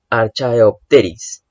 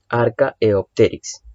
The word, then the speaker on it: Archaeopteryx: félix así se pronunció en algunos casos se pronuncia también como arco iris laxe en vez de sonar como un h suena como un acá archaeopterix bien pero podemos pronunciarnos de ambas formas esto probablemente sea un